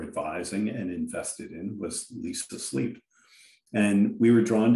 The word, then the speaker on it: Leesa: Now, shifting topics a little, shifting topics a lot, you were the interim CEO until January 2021 of Leesa. Am I pronouncing the company right?